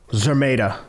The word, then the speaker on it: Szeremeta: Yeah, give me the pronunciation of his opponent. Szeremeta.